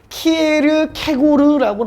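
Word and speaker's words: Kierkegaard: 자, 키어케가르드인데 우리 여러분 사전 찾으면 키에르케고르라고 나와. 키에르케고르.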